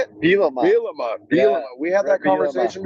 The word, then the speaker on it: Bielema: Bielema.